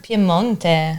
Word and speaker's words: Piemonte: Piemonte. Yes, Italian pronunciation.